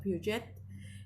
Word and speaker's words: Piaget: Quizás ustedes por ahí lo han visto, Piaget se escribe, pero se pronuncia Piaget.